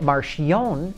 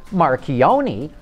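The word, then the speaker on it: Marchionne: like the way Sergio Marion pronounces his name I used to pronounce it marioni until I learned he pronounces it Marion and I know this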